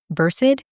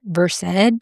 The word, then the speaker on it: Versed: Speaking of, I have recently learned that I've been mispronouncing versid. It's spelled vers, which is how I've been saying it, but it's pronounced versed.